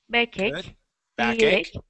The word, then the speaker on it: backache: Now, remember, that CH sounds like a K. K, okay. Ick, backache.